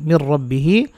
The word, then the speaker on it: من ربه: হা খরা জির হি মির রব্বিহি অকফের চিহ্ন আছে আমরা এখানে অকফ করব হা সাকিন হবে উচ্চারণ হবে মির রব্বিহি এই হায়ের টানটা বাদ পড়ে যাবে এটা সাকিন হওয়ার কারণে একসাথে পড়ে শোনাচ্ছি وقالوا